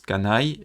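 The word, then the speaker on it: 家内: Ça se prononce kanai, et c'est pour dire mon épouse.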